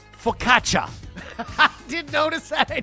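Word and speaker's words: focaccia: He said, "Jespersonson, for the love of God, it's pronounced faukatcha." I didn't notice that. I didn't foc I I I think I What did I say? Fukacia. Fukacia.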